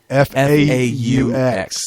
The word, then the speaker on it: faux: mean Fox faux news f A U X that's pronounced faux for those of you i guess I'm not French right so the the A the U and the X are silent oh I still don't